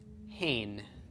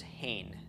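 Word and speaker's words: הן: a group of women is referred to as hain that's they effeminate also them okay and Hebrew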